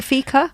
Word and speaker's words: fika: of Modern Life clubbers than by engaging in fika is that how you say it you're engaged you're doing fika yes fika is often translated as a coffee